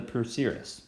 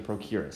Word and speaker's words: procerus: thin muscle known as the procerus okay or the procurus however you want to pronounce it this muscle is a